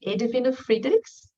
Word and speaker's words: Friedrichs: We pronounce his name this way here. I don't know if people from Germany would pronounce it better, but in Brazil we say Edwin Friedrichs.